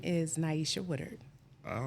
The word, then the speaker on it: Nyesha: that so who are you my name is Naisha Woodard all right Naisha all right pronounce that one more time Naisha Naisha you know I've been calling you na